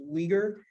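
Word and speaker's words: Uyghur: where in the packet u y g hu R that's pronounced weager they are a predominantly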